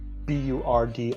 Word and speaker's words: Burdisio: His name is Alejandro Burdizio, Burdisio. I was about to say, spelled like it sounds.